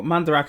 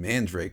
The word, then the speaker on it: Mandarake: I thought it was fucking Mandrake. I'm stupid. I mean, it's spelled Mandrake, but it's pronounced Mandarake. because it's Japanese.